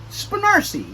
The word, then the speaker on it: Spanarci: Spanarchy? Spanarci. You know why? Because if you covered this up, and if it was like Marcy, you know, the girl's name, Marcy, it would be Marcy.